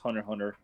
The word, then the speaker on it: Hunter x Hunter: statements suggestions it's pronounced Hunter Hunter ignore the X okay both Hunter Hunter